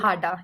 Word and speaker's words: Hada: Hada, is that how you pronounce it? Hada, yes.